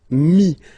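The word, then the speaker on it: mis: And then mettre to put, so E-T-T-R-E will give you this I-S, mi. Same thing here, final S is not pronounced.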